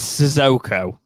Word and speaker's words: Sissoko: It is Sissoko. Sissoko, that's it. Imagine it's spelt like the spelling with an S. It is the same.